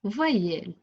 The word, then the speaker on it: voyelle: Pourquoi j'ai dit yel? Un petit rappel de la leçon de la semaine d'après. C'était E devant 2 lettres qui se ressemblent ou bien E devant 2 consonnes semblables se prononce E.